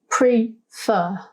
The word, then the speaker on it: prefer: out loud we notice it has two syllables prefer the emphasis when we say this word out loud is on the second sound fur so if we want